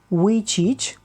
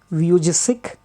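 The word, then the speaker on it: Vujicic: is nick yeah nick his name is nick we cheech yes you heard me right nick which each pronounced as nick which each there are some other pronunciations also people some people pronounce this as nick vieux sick and some pronounce it as nick why cheech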